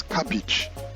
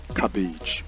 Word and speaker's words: cabbage: Now the next one here is a vegetable, as you can see, correctly pronounced as cabbage, and not cabbage, but cabbage.